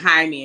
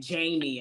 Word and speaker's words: Jaime: And it was like Jaime, and she was saying Jamie, and like Jamie.